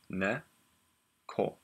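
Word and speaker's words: 猫: So this is phonetic, and this says ne, ko. So the way to pronounce this is neko.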